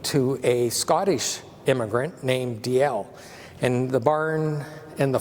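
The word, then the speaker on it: Dalziel: So DL is how you pronounce D-A-L-Z-I-E-L.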